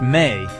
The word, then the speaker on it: me: The word me pronounced may is a difficult one to translate simply.